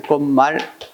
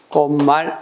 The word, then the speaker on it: 꽃말: 꽃말 같은 경우는 우리가 얘기했을 때, 꽃이 뭘로 대표가 된다? 치읓이 디귿으로 대표가 되지. 그래서 미음에 열받아서 디귿이 니은 되니까 꽃말이라고 해야지. 꽃말. 꽃말.